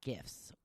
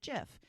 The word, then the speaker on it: GIF: they were discussing this how do you pronounce it it's a gif or is it jiff and that's what Leonard sent he goes well I think it's a hard G because it's based off of graphics so jiffy peanut butter